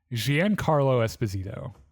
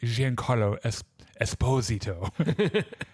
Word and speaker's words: Giancarlo Esposito: seen in this fucking, because he pronounces his name he's like Giancarlo Esposito.